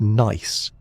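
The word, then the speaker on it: gneiss: And granite when altered can become nice, pronounced nice with its characteristic bands of light and dark minerals arranged like layers in a cake.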